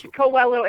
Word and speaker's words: Coello: It's Coello, and Co- nobody ever says it right, so you're good. So Coello. it's Coello.